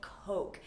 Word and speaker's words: Coke: And similarly, Coke is a beverage that you want to pronounce carefully. In many other countries, people will say cola or Coca-Cola, but in the US, we say Coke. And make sure that that O sound is nice and long, Coke, or else you